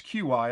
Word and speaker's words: Qi: The QI standard, which is key, I guess is the way you pronounce it. It's QI. I call it QI. A lot of people call it key.